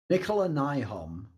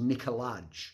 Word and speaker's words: Nikolaj: Nikolaj of Astralis has a Danish name, so if you see it written, it looks like it should be pronounced Nikolaj, so there's a J at the end. But actually, phonetically, you pronounce it Nikolaj.